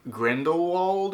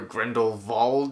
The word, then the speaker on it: Grindelwald: and i also think grindelwald or grendelvald they can't quite decide on which pronunciation is the right one it's just not that